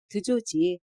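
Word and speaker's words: George: 예스, 드조지. 그 애가 말했다. 선생님, 제가 뭐라고 하는지 못 알아듣겠어요. 조르주라는 거예요? 드조지라는 거예요? 맥상이 물었다. 선생님은 우리나라 말로는 조르주이지만 걔네 나라 말로는 드조지라고 발음한다고 설명해 주었다.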